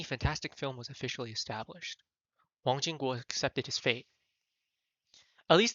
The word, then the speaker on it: Wang Jingguo: Let me actually see how his name is pronounced. No, that's not it. 叫 Wang Jingguo.